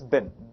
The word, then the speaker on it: been: not clown says beam in fact is francis bin like dustbin we don't pronounce it has been it's bin right so in present perfect continuous has to have must come b1 plus ing must come in between bin Mosca so the structure of present perfect continuous